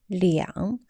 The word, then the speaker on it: 两: We mentioned R have two pronunciations in previous class. The first one, R. Second pronunciation, 两. After R is a measure word or the time words, we will pronounce R as 两.